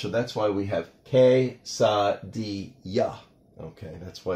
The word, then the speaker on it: quesadilla: The double L letter is pronounced like a Y in English, so that's why we have quesadilla.